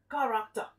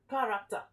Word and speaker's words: character: is n which means the c h has the k sound character as in can